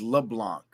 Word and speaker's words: LeBlanc: Because I had a judge and his name was LeBlanc, and it was spelled Leblanc, and it was pronounced LeBlanc.